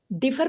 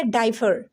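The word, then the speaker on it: differ: क्या हो जाएगा डाइनर यह डिफर पढ़ेंगे या डाइफ बिल्कुल सही डिफर पढ़ेंगे इसको क्यों क्योंकि दो कॉन्सोनेंट डबल कंसोनेंट है और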